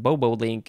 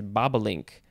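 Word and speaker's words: bobolink: added to bobo but it is not pronounced bobo link it is baba link give or take noun from circa 1801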